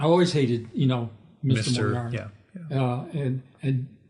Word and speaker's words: Moriarty: I would say my name, Moriarty. I would say, I'm more arty than you are.